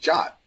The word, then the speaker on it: JWT: So JWT is pronounced JOT.